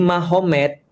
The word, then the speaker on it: Magomed: Kalau kita tahu artinya berarti di sana Muhammad jadi Mahomet. Jadi tulisnya Magomed, tapi bacanya Mahomet.